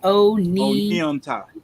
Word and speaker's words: Oneonta: Oh, so she got it broke down how to pronounce it right here, Nikki. Yeah. Oneonta. Onianta.